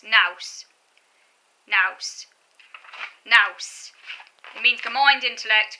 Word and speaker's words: nous: Yeah, it's nous, that's how you pronounce it. It rhymes with house. Nous.